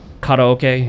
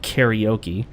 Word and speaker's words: karaoke: when we were doing the kata okay in Japan I guess in here in the United States you pronounce it karaoke but uh oh look